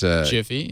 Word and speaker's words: Giphy: It's Jiffy, /Jiffy. PHY, right? Yeah. This really And doesn't then help the people dancing.